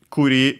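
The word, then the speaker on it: 栗: Uh kuri means actually chestnut. Uh kuri the accenting is on the last syllable.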